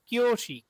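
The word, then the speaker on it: きょうし: ইয়োতে কি কিও, কিয়োশি তাহলে এই যে উটা দেখছেন না, এই উ এর উচ্চারণ এখানে হবে না, কিয়োশি কিও। এই যে উটা আছে এখানে একালিফ টান দিয়ে দিবেন।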